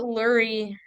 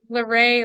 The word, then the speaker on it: Luray: right yeah that's right that's crazy I always pronounce that Lurie like Marie Luray Leary that's funny yeah so we live in